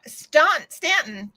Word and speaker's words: Staunton: It's pronounced Stanton.